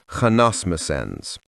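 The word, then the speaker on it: Hanasmussens: This word is pronounced with an H in this manner, Hanasmusens.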